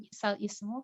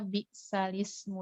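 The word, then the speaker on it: بِئْسَ الِاسْمُ: Jadi di Al-Quran kita bacanya bi'salis gitu ya, bukan bi'sal ismu. Karena harokatnya sudah dipindahkan ke huruf lam.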